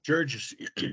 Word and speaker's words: Georges: So without further ado, I'd like to introduce Tanner and Georges. Did I pronounce that right? Georges, yes, Georges.